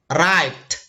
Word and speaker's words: arrived: Nah, arrived. Nah, berakhiran ed. Nah, dibacanya de.